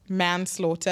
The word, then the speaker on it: manslaughter: life and the literally the word was manslaughter I that man laughter yeah I'm petrified of